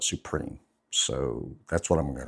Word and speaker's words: Suprim: Most people call it Suprim because of the way it's spelled, but I think the intention is to call it Supreme.